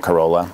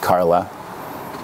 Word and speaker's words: Carola: because everybody calls it corolla but it is actually pronounced carla um it's a swedish spelling of the word carlite was my mother's